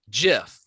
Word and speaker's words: GIF: of the format, GIF, said it is pronounced GIF, like the peanut butter.